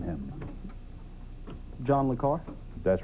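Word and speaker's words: le Carré: points name him John lucar that's right John le carray is the way it's I think pronounced by him 20-point bonus here is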